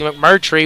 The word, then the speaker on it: McMurtry: so here we go Reed McCurry finally got his name right to me about five times to say it correctly McMurtry will be kicking off